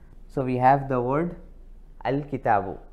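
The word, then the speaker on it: الكتاب: So now you can pronounce this as al-kitab.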